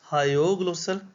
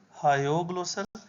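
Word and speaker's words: hyoglossal: it is hog glosser you should pronounce it as hog glossal hog glossal and then the middle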